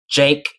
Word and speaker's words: Cenk: Jen by the way his name starts with a C but it has a j sound J I know it's weird but it's j anyways those you watching